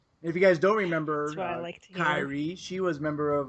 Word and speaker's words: Kairi: Kairi? Did I say it wrong? No, you said it right.